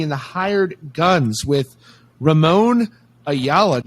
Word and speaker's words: Ramon Ayala: we have giovanni in the hired guns with ramon ayala like that is that is that a proper pronunciation yes that's him he's the he's basically